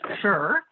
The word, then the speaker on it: shire: york too if you put shire pronounced fur at the end of each of these